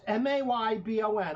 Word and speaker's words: Mabon: Mabon, pronounced Maybon. I thought it was Mabon. That's right.